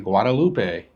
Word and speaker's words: Guadeloupe: We've heard everybody, of course, I've always pronounced it Guadeloupe. A lot of folks on board have been saying Guadeloupe. So I looked it up, and according to everything online, Guadeloupe is the correct pronunciation.